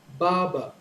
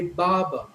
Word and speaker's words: barber: pronounce this as barber barber so the stress is on the first syllable ba and the stress